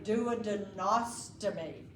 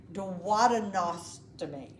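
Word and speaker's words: duodenostomy: Uh if you are talking about a surgical opening of the uh douadum then I'm going to say douadenosttomy or I could say datadinosttomy. Both of those are correct.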